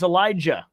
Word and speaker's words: Elijah: Elijah. You pronounce the J.